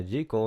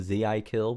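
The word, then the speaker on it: ZI:KILL: This song is called Rocket, and it's by Jekyll. You might have heard me talk of them before. I like to call them Z.I. Kill because that is just such a cool name for a band.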